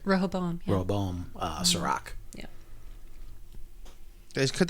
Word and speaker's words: Rehoboam: Rehoboam.